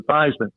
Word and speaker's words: Theismann: think by just simply changing the pronunciation of your last name from thieman to thyman we can help you